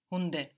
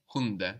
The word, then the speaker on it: Hunde: Hunde. Hunde. Good, because now the D is starting a syllable.